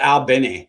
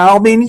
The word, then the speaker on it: Albany: Albany, Georgia. I'm from Albany, Georgia. Yes. It's Albany, not Albany like we have in New York.